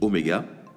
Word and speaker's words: oméga: Alors, cette lettre-là, ça se dit oméga. C'est une lettre grecque.